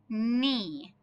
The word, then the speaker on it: knee: as our first word, I know our K is going to be silent. Knee. So what is our silent letter? The letter we don't hear? K. This word is read knee.